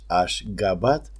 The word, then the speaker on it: Ashgabat: The current spelling and pronunciation is Ashgabat, and the city is the capital of independent country Turkmenistan.